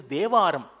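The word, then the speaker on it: தேவாரம்: It is pronounced as Teva, written as Tevaram, but its correct pronunciation is Devaram.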